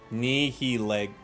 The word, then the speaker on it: Nihilego: Is it Nihiligo? How do I say that one? I just need to know what the pun is, then I'll get it. What's the pun? Nihilego.